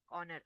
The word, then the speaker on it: honor: That is the reason, because H is silent over there. Same way we have the word an honor. Honor, HONOR.